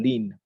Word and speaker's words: ln: I pronounce it as ln or lin.